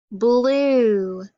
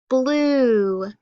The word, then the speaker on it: blue: UE is a digraph because we hear that U, but we don't hear the E. So let's think about how we're going to code those words since it's a digraph. So we underline it because it goes together. It's a long U sound, and then we have to make that E silent.